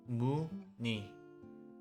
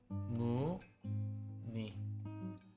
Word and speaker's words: 무늬: And 의 in these 4 words are all pronounced as e.